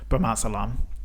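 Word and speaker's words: bromazolam: is it and and when we're talking about Brahma Alam am I saying it right yeah yeah yeah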